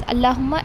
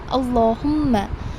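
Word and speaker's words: اللهم: I have mentioned in your last week's lesson that whenever you see the word Allahumma, you will not pronounce it as Allahumma, it is Allahumma.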